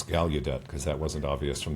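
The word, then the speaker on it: Gallaudet: Thank you for that introduction and for for Justin for telling me how to pronounce Galudet because that wasn't obvious from the article.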